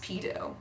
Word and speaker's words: P2.0: P2.0 is pronounced pedo. Let's make that T very obvious.